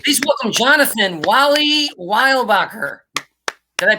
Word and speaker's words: Weilbaecher: It's like Weilbaecher, like this, like that excess Germany-ness that you need to have in there.